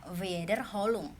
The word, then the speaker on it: Wiederholung: Wederholung tuh pengulangan Wederholung dibacanya Wederholung.